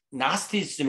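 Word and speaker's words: gnosticism: 이게 이제 그 아자를 빼면은 그노스티즘이라고 발음하지 않고 나스티즘 이렇게 발음해요. GN이 붙으면 이 G자가 이제 묵음이 되잖아요.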